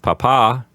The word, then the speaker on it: papa: And then we have papa. Remember to put the accent on the second syllable so you don't call your father a potato.